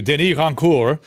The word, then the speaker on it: Rancourt: And of course, as an ugly American, I completely butchered and anglicized his name. So, let me give it its due. Denis Rancourt.